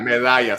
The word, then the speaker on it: Medalla: Medalla, saying it right. Medalla with double L.